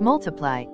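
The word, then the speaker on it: ×: Sheeran's second studio album, pronounced Multiply, topped charts around the world upon its release in June 2014.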